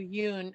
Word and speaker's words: Yeun: the only thing is, Evan Peters is up against Steven Yeun. Is that how you pronounce his name? From Oh, Yoon.